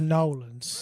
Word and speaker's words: New Orleans: so I was in New Orleans when I first did stand up it's pronoun Noland oh yeah sorry my bad God it's pronounced like you're having a slur or like having a stroke rather where you're just